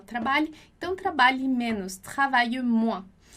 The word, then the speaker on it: moins: Então, aqui na nossa frase 10, a gente tem travaille moins. Travaille moins. Você já viu lá comigo que o S em final de palavra a gente não pronuncia.